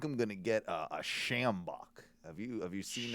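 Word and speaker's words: sjambok: and i think i'm going to get a schambach have you have you seen it do you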